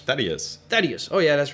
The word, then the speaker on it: Thaddius: to the next boss yeah how do you pronounce his name is Thaddeus oh yeah that's right you said that in